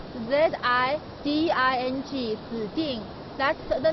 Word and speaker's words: Ziding: Ziding village is spelled Z-I-D-I-N-G, Ziding.